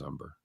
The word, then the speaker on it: Humber: It's Philip Humber, not Umber. No, actually it is Umber. It's not. It's spelled with an H, but you don't pronounce it, just like mine.